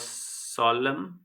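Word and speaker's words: solemn: है the ceremony was सोलम and respectful यहां पे एन साइलेंट है इसका हमें हमें ध्यान रखना है।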